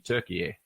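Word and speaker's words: Türkiye: gone to the word, it's the English spelling of how they pronounce it in Turkish, which is actually Turkiye.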